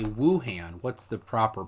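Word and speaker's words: Wuhan: is the province and ohan is the city okay so we don't you don't pronounce the W like we do it's a very soft W yeah all right so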